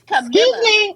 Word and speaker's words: Camila: It's Camila. Excuse me. My bad. I have a friend named Camila, so sometimes I just say, girl, Camellia is a flower.